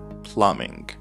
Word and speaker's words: plumbing: loft plumbing plumbing guys keep in mind that b is not pronounced plumbing so plumbing as you can see